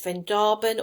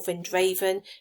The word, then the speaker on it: Vrindavan: are free from pollution, is Vrindavan or Vrindavan, it's sometimes pronounced, and that's supposed to be the town that Krishna grew up in.